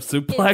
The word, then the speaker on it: suplex: should be pronunciation of suplex. It's because it's French, and in French you don't pronounce X.